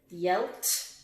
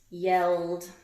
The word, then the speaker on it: yelled: Which one do you think it is? Yelled, yelt, or yelled? That's the clue. It's yelled. The man yelled at the dog and woke up the baby.